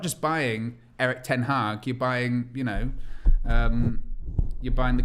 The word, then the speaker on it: Erik ten Hag: Erik Ten Hag.